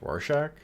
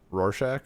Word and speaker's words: Rorschach: because they view how the hell do you pronounce his name? Splotchy boy. Rorschach. Rorschach.